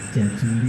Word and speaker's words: Jajuli: Saya dikenalnya di sana memang Pak Jazuli, gitu ya. Nama lengkapnya Ahmad Jazuli. Cuma masalah lidah memang kadang-kadang saya lebih suka pakai Z sebenarnya. Kalau pakai J itu kayaknya nyebutnya agak susah, Jazuli gitu. Gitu.